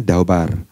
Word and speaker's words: dabar: Kata dasarnya itu adalah dabar. Ya, dabar. Jadi dibacanya dabar.